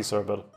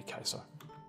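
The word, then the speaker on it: Caesar: a use Hyper know it's popular to pronounce its c server supposed to be kaiser that's why it's called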